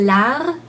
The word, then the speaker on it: largeur: Because it's harder to say rge than to stop on R. So I would say largeur.